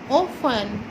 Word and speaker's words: often: ऑफन, ऑफन में भी हम T को साइलेंट कर देंगे।